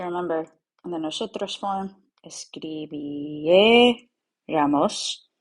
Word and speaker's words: escribiéramos: So remember, in the nosotros form, escribiéramos. Don't forget the accent on the vowel before the R, before the ramos.